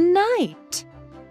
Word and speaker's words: knight: Remember that the K is silent at the start.